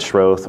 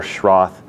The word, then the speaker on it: Schroth: exercises we can say the word shrothe or schroth is probably the more common English pronunciation but it comes from the German which I think is schroed and it started with